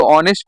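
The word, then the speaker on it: honest: नहीं ओ आएगा देखिए एच साइलेंट है ओ ऑनेस्ट ऐसे लिखा जाता है पहले देखिए सभी लोग ठीक है हां कृपया देखें ध्यान से हां ये देखिए ऑनेस्ट ऐसे लिखा जाएगा एच ओ ऑनेस्ट तो लिखा ऐसे पर इसको अंग हिंदी में अगर साउंड जो आएगी ऐसे लिखा जाता ऑनेस्ट ये साइलेंट होता है तो इसलिए आप बताओ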